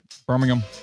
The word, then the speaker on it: Birmingham: Well, I kind of try to say it like the British do with their cities. Okay. They kind of ham. They don't do the ham in Birmingham.